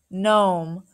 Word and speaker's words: gnome: see a GN word the g is silent and just says the n Sound N I will understand